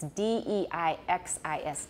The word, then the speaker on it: deixis: So deixis, it's D-E-I-X-I-S, deixis.